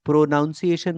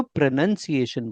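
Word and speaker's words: pronunciation: प्रोनाउंसिएशन मत बोला करो। प्रोनंसिएशन बोला करो।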